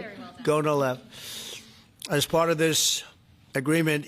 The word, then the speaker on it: Gonal-F: most popular drug of all, the IVF drug Gonal-F. So it's Gonal-F. Is that a proper pronunciation? Very Close well enough, done. right? Very well done. Gonal-F.